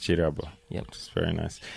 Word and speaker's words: Kirabo: It's written with a K, like Kirabo, but pronounced Chirabo.